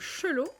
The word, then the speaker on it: Chalot: du chapeau moi chapeau Chalot qu'on prononce donc chelot est un grenier en